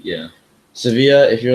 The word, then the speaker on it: Sevilla: Second place, Sevilla. Sevilla, which is which Americans pronounce as Seville cuz it's V I L S E V I L L E. Yeah. Sevilla.